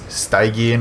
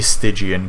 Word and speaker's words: Stygian: pronounce uh whether it's steigen or stygian or what and it would be stygian because it's from like the river sticks so stick gian all right now i'll